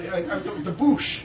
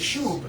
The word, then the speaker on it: Shoob: The Boosh. Right. Is it I Boosh? think No, it's the Shoob. Like Shooby-Doo.